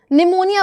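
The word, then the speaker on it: pneumonia: मैं लिख दूं यहां पर एम नहीं पी साइलेंट होता है। साइकोलॉजी है ना साइकेट्रिस्ट निमोनिया बोलते हो। पी से स्टार्ट होता है आपका। निमोनिया सूडोनियम fake name.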